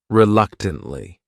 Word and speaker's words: reluctantly: next word is reluctantly this word has four syllables and the stress is on that second syllable that third syllable also has that schah reluctantly reluctantly what it means is that